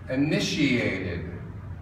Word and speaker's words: initiated: we've initiated our project initiated sounds like SH in there I know you don't see it but that's how we pronounce it and to initiate something